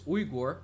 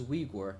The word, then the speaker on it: Uyghur: And yeah, so this faction here, which I would read as Uyghur, although I went online and actually I just wanted to do like a little very small research about those people, and it's actually pronounced as Uyghur in English, so that's an interesting thing to know.